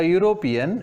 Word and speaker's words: European: One day a European visited the Taj Hotel. A European, though the European word has started with an E, we have used a there because the European pronunciation is U consonant.